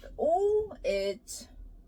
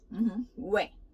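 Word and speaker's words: 외: So with O, it's we. We. Be careful, it's not oi. This is O, this is E, but it's not pronounced as oi. It's we. And this U and E, it's ui quickly, so we.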